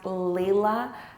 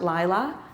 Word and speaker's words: Leila: her response was um my name is actually pronounced Leila not Lila and then her response